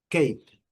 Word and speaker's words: cape: Cap, cape. O som bem curto da letra A, cap. E o som bem longo da letra A. Cape, letra E não é pronunciada.